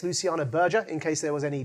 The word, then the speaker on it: Luciana Berger: I did ask Luciana the pronunciation of her name before we entered here this evening, and it's Luciana Berger, in case there was any doubt.